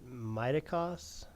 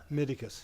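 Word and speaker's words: Mytikas: Um, tough act to follow, but uh I would say was it did you pronounce it? Mitoic Miticus.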